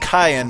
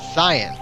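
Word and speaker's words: Cyan: of a hundred men the name is actually pronounced cayenne by the way i was pronouncing it zion yeah i did that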